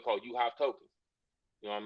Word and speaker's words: UHive: It's called UHive. Spelled like it's pronounced. UHive with a U, not YOU.